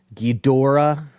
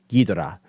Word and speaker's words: Ghidorah: I think honestly, people say Ghidorah, and it like drives me nuts. It's actually it's supposed to all be even, generally speaking. Ghidorah. It's like you don't really emphasize one over the other.